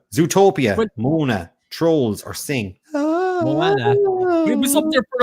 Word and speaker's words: Moana: Moana is the right way to say it.